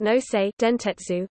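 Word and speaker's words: 能勢電鉄: Railway Co., Ltd., Nainshi Dianji Zhushi Huishi Nose, pronounced Nosei Dentetsu, occasionally abbreviated as Nose Railway or Noseden, Nainshi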